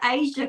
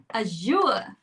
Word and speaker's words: azure: She goes, what color is the Asia color? And I went, the bright blue one. And she's like, no, you're saying it wrong. It's azure. Okay.